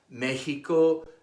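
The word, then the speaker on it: México: those of Aztec origin an X between two vowels is pronounced like the Spanish J Mexico Mexicano Tejas Oaxaca why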